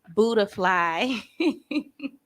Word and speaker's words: Buddafly: and a lot of people call me buddafly um because i spelt it like that because